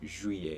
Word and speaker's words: juillet: Okay, juillet looks like Juliet, but it's J-U-I and not J-U-L-L-E-I or L-L-I-E-T. It's juillet.